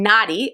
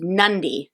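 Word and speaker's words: Nadi: review preview and normally helps us with the pronunciation we were saying naughty of the city but it's actually nundi so thank you for that we always appreciate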